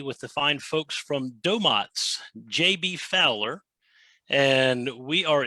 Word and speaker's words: Domotz: management domains is a domo is really how we pronounce it with long o's but domotes is a